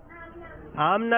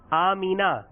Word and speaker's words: آمنہ: آمنہ بھی صحیح نہیں ہے, صحیح ہے اس کا نام آمینہ.